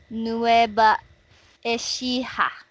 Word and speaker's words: Nueva Ecija: from nueva ecija I'm originally from nueva ecija nueva ecija okay that's how you pronounce it no ever nueva ecija okay okay